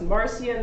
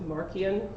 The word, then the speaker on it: Marcion: He was an opponent of a guy named, sometimes pronounced Marcion, sometimes pronounced Marcion. I'm going to go with Marcion, who would have been one of the early Gnostics.